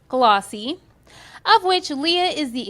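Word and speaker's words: GLLAWC: Lakes African-American Writers Conference, GL L AWC, pronounced Glossy, of which Leah is the executive producer.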